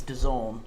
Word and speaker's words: DAZN: Um, the game is on Don today. I think I'm promote pronouncing that right. Done. I was always told it was D A Zazn, but allegedly it isn't DAZn. Apparently, it's Done.